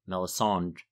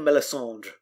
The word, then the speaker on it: Melisandre: to poison melisandre or melissand how do you say it melisandre i give it a little drip at the end yeah i go for melissandre that's how roy detrice does it in the audiobook too but i'm too